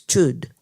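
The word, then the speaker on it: Chöd: practice that all schools follow it's known as chud CH most people mispronounce it it's cutting cutting off ch ch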